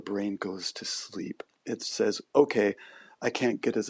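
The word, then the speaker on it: Sau: And so there is a corresponding Sanskrit mantra that goes along with it, which is Hong, that rhymes with song, and then Sa, S-A-U, that can be used.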